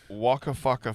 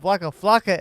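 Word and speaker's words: Waka Flocka: uh Chris ow and dirt first we got Wakka faka Fame wait Wakka faka Fame you say Wakka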